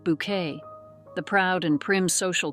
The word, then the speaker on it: Bucket: Yet for many, she was forever highinth bucket, pronounced Bouquet, the proud and prim social climber in the BBC's beloved sitcom Keeping Up Appearances.